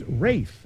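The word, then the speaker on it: Ralph: yes acting for 1200 concerning the pronunciation of his name this star of the English Patient said it's Rafe actually anyone this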